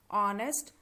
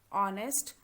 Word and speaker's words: honest: vowel sound like r honest ir now all these in all these words h is silent but it is used in the spellings while writing but while pronouncing h